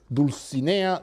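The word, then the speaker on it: Dulcinea: Quixote names is Lady deuce Ania del Toboso and Rocinante in the first case the lady he follows literary convention her name rhymes with Mellie bear who is the one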